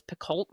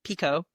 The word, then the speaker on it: Picoult: I always thought her name was Picoult. That's how I Yeah, always me pronounced too. it. But whenever I went and saw her, it's Pico.